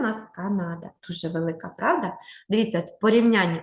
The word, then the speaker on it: Канада: треба ке не да Канада наголос на перший склад Канада наступну країну яку ми